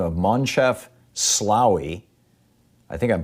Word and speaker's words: Moncef Slaoui: And the co-director of this is a person by the name of Moncef Slaoui. I think I'm pronouncing that right. It's Moncef Slaoui, Moncef Slaoui.